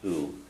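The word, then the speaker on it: -adh: And it ends in ADH, and the ADH is pronounced u.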